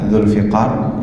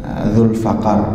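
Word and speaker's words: ذو الفقار: Kemudian ada Ghadbu, kemudian ada Dzulfiqar, ya, ini yang terkenal, Dzulfiqar bikasrifa, ya, membacanya dengan kasrah, ya, huruf fa-nya, Dzulfiqar, atau juga bisa dengan fathah, ya, Dzulfaqar bisa juga.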